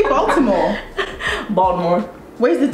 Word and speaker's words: Baltimore: Say Baltimore. Baltimore. Where's the T? Say Baltimore. People Baltimore. People from Baltimore don't even say Baltimore with the T. Like, you see how you're struggling to say it? It's Baltimore.